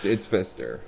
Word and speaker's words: Pfister: The manufacturer is Pfister, but it's spelled Pfister. Yeah. No, it's Fister.